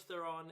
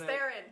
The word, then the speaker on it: Theron: So this movie, Charlize Theron is... We're going to have to get on the same page about that. Yeah, It's Theron.